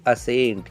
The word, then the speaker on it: ascent: नहीं, यहाँ पे बिल्कुल आपको सी का प्रोनाउंसिएशन नहीं करना है। तो इसको आप कैसे प्रोनाउंस करोगे इस वर्ड को? इसको आप बोलोगे असेंट।